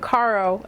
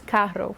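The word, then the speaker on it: carro: she mispronounced it um it's not Caro it's Karo with the the Cairo and it's that's not how I pronounce it so you have to make sure that your r's are rolling there's just so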